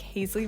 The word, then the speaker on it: Haisley: I thought it was like cute and girly, but then I also thought like Hazley rhymes with Paisley, and it just sounds like if you have twins and you named them Paisley and Hazley, and then I don't know.